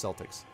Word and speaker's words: Celtics: Irish nice okay cool like the Boston Celtx except they actually call themselves Celtics for some reason that's the only thing where it's the soft C alright see you Kelly